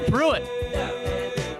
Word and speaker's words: Pruitt: Pruitt.